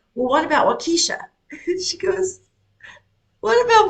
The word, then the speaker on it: Waukesha: I don't know how to pronounce an AU. Waukesha. Waukesha.